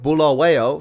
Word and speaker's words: Bulawayo: So I used the town of Bulawayo, 4 syllables, to create a fictional intelligence scenario when I was deployed to Israel 30 years ago.